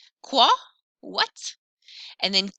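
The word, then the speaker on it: quoi: nice nasal farm what usually q u makes a k sound k but followed by o i actually makes more of a sound o i makes a wah sound qua what and then ki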